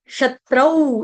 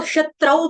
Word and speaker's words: शत्रौ: है आपका वर्ड शत्रौ, इसको शत्रौ पढ़ेंगे, शत्रो नहीं पढ़ेगा कोई। दो मात्राओं का उच्चारण करेंगे औ, औ। ठीक है, फिल्मों में आता है ना शक्ति कपूर औ, उसी तरह से यहां पर भी करना है औ।